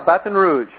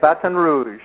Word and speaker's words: Baton Rouge: Did I pronounce that right? Yeah, Baton Rouge. Baton Rouge? That's how they say it, Baton Rouge.